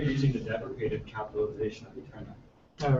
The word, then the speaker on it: EteRNA: I basically realized that like EteRNA with a capital RNA, everyone pronounces it EteRNA.